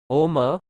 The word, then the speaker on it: ॐ: ओम का उच्चारण 3 ध्वनियों से मिलकर बना है। इनका अर्थ वेदों में भी बताया गया है। ओम, उ, म इन 3 शब्दों से मिलकर बना है।